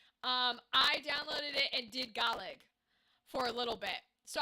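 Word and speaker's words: Gaeilge: Because you guys have Gaelic, the Irish technically pronounce it Gaelig, but they just call it Irish.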